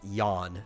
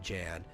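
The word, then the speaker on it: Jann: where he's from I'm assuming that's pronounced yon not Jan but Jan uh martinborough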